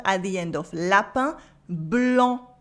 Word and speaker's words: blanc: Blanc, en with the silent C.